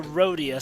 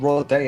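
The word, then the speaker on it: Rodea: also looking forward to rhodius sky warrior since that's finally coming out eventually for the last time it's called royal day of the sky soldier get it right i just pronounced it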